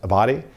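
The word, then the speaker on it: Abbate: uh the one of the deputies for dire former director Ray Paul I believe is pron name is pronounced a body uh he was the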